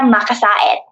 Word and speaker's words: Macasaet: So like Filipinos will actually say it like Andrea Macasaet. Because it's got the two vowels at the end. Yeah, so they'll pronounce every vowel.